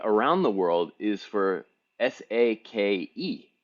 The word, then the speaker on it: sake: be difficult for me everybody says saki right that would be that would be s a k i right which is wrong s-a-k-e is sake yeah that's right so